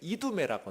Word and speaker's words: 이두메: 구약 성경에는 에돔이라고 나오지만 신약 성경에는 이두메라고 나와요. 이두메. 왜냐하면 에돔이라는 이스라엘 헬라 말을 히브리 말을 그리스 말, 로마 제국 공용어인 헬라 말로 발음하는 게 이두메예요.